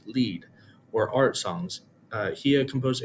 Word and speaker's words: Lied: Schubert is best known for the many German Lieder pronounced Lieder plural version of the word Lied, which is pronounced lead, or art songs.